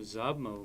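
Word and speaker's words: ཟབ་མོ: Zaba zab, ma naro mo, zabmo means profound.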